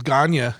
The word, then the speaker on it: Gagne: yeah i mean dude my last name is uh is ghania but it looks like gagne like you know what